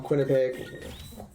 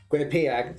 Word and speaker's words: Quinnipiac: of relief for me now so now I'm quinnipeg Quinnipiac sorry I'm trying to make sure I pronounced it correctly we'll choose our next opponent